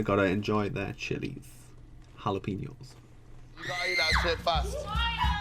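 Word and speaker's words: jalapeño: get get with it don't pronounce the J it's jalapeno your food today you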